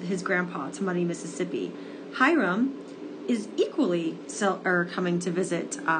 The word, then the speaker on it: Hiram: You have a situation in this book where there is a kid who has the name, it's spelled like this, Hiram. His name is Hiram, and Hiram becomes friends with Emmett.